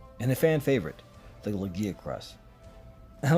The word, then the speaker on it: Lagiacrus: Moral Ludroth, a Gobel, and a fan favorite, the Lagiacrus. I like to pronounce it Lagiacrus.